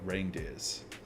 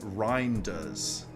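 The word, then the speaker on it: Reijnders: All right, our next player for this evening, we're looking at Tani Reindeers and obviously his name is not Reindeers.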